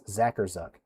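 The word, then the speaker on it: Zackarczuk: And I remember someone pointed out that the C is silent. So it's Zacherz. So Zacher Zuck's trail downburst ongoing right now in Elier County.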